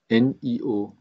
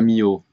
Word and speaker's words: Nio: Mais comment il s'écrit le ticker? NIO. NIO. Non, je l'ai pas. NIO, hein, novembre, hein. Ah! Ouais, pas Mio.